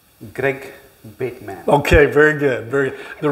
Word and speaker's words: Greg Bateman: way but that's fine but how would you pronounce my name Greg bitman okay very good very the reason I say